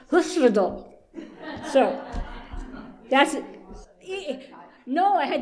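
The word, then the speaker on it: Hyfrydol: So, the in English they call it we say "Hi Fred All", but I looked it up on some Welsh pronunciations and it's something more like "Hush Fred All".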